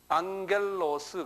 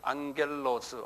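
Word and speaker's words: ἄγγελος: 앙겔로스 그래요. 앙겔로스 한번 발음해 보세요.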